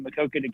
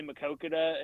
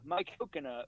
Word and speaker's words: Maquoketa: of our anchors like she couldn't say Maquoketa and instead of asking she just said it wrong seven times seven different ways and yeah it's like my coconut was one of them uh what else I